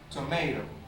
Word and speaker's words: tomato: For example, tomato. Tomato. Where is located? Tomato. When can I locate this word? For example, tomato in this part. Tomato. The stress syllable is in the center of the word tomato, as we can see